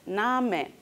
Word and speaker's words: Name: No se coman la E. Name. Se pronuncia tal y como se escribe, pero también Danke, Bitte, Suche.